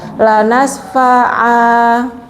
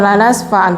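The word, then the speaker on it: لنسفعا: Supaya saat kita baca mau berhenti di situ kita tidak salah, karena cara bacanya nanti memang jadi mad iwad, jadi panjang 2 harokat. Lanas fa'a, jadi bukan lanas fa'an tapi lanas fa'a.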